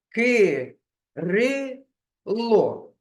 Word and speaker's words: Кирило: давайте кількість складів проплескуємо ки рило на який склад падає наголос Кирило ми голосом виділяємо другий склад Отже він наголошений кажіть будь ласка скільки